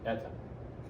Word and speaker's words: eta: Eta.